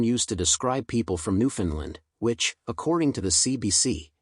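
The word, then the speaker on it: Newfoundland: time at Ken Jennings New Finland rhymes with understand New Finland understand emphasis on land love the show you're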